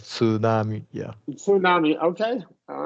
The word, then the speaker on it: tsunami: sure that tsunami because I've always just said it with a silent T tsunami um no tsunami I I would pronounce tsunami in Japanese tsunami yeah with a TS okay I all right